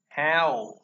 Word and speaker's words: how: Bây giờ nó không O nữa, trường hợp này nó là âm ao, bành miệng ra. Ao, ao. How, không phải là how, how, how, nó là how.